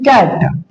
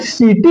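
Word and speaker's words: city: तो देखिए बाबू, सी का प्रोनाउंसिएशन हम लोग क करते हैं, जैसे देखिए कैट, बैक, ठीक है। और वही जब यहाँ पे सीटी है तो यहाँ पे हम लोग कीटी नहीं बोले, क्या बोले?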